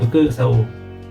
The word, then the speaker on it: 複: of stroke right and it happen to be pronounced FUKU as well right so instead of